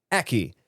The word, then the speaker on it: Eki: If I had to guess, I would say, oh, rhymes with Becky. Eki.